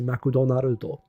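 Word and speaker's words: マクドナルド: you have to say Mak Naro you have to like break up all the syllables which no one can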